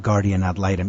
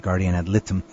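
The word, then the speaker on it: guardian ad litem: is this concept of guardian ad lium you know last week I pronounced it incorrectly I said Guardian at Lum so what what is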